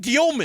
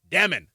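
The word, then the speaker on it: Demin: It's like, ", it's not Dyelmon." I'M LIKE, "I HAD SOMEONE who served a mission in Russia said it's Dyelmon." And then Yegor's like, "How to pronounce my name? Dyemon." Anyway, THAT'S HIM POINT-BLANK. HE SAID it point-blank. Like, "How to pronounce your name? Dyemon."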